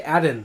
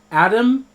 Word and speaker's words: Adam: the simple and Adam I always say add in with an N Adam Timmerman I think it's because my tongue wants to jump to the very end of Timmerman and says Adam Tim remember right I